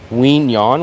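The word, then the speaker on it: Quy Nhơn: It should be, name of the city is called Quinyon, which is spelled Quy, and then the next word is Nhon, and you'll see it.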